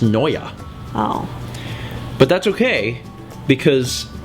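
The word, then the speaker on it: Neue: a secondary font to use isn't it hel new uh it's pronounced Noya oh but that's okay because and I'm prettyy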